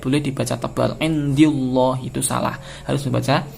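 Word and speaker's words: الله: fathah atau dhomah dibaca tarqiq apabila lafaz Allah didahului oleh harokat kasrah ya jadi apa namanya harokat sebelum lafal Allah ini menentukan bacaan menentukan status hukumnya Kalau fathah dan tentumah maka dihukumi tafkhim jadi membacanya masih berupa tebal Allah Rasulullah tapi kalau didahului oleh harokat kasrah maka membacanya harus tipis rasullilah demikian semoga bermanfaat dan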